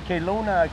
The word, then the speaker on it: Kelowna: He's from Kelowna, Kano? Yeah. Am I saying it right? Yeah, close enough. Kelowna. Close enough? Kelowna?